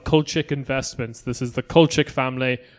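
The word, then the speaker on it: Kulczyk: investments this is the culture family i'm assuming that's how you pronounce it yeah yeah um like c yeah k k-u-l-c-z-y-k i know them they're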